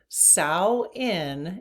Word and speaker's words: Samhain: Samhain is how you pronounce that, believe it or not. I guess the M is silent, but that's what Google says.